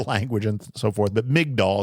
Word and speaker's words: Migdal: and so forth but mig doll is what we call it a lot this is a a